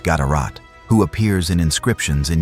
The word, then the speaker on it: GDRT: One notable example comes from King GDRT, possibly pronounced Gatarat, who appears in inscriptions in Yemen, demonstrating Oxom's reach into the affairs of the Arabian Peninsula.